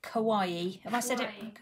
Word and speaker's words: kawaii: Kawaii. Did I say it right? Yeah, you normally say kawaii. Kawaii is just Japanese for cute.